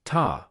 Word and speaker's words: 他: The word in English that is most closely pronounced to ta is ta, with a similar sound to the ta in taco or target.